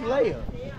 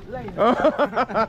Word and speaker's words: Leia: You still said it wrong. Her name is Princess Leia. Layla.